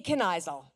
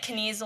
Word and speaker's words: Kennisel: First of all, I just wanted to congratulate you on saying my last name, right? So, win. It was actually written phonetically in the speech. So, but she could read it. Win. That's perfect. Usually I get kasel or weasel.